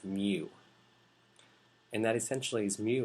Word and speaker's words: mu: That black vertical line, signified by a backwards U or a U-looking thing, is pronounced mu.